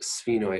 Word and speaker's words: sphenoid: bone it's pronounced pronounced sphenoid as as if it would be spelled sf that is very difficult